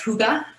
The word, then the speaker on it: hygge: concept it's it's spelled like hygge but it's pronounced hygge and uh it's just it's very popular in